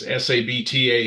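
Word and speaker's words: Sabtah: it right it really because it's a short vowel to really stress it you add the h sound.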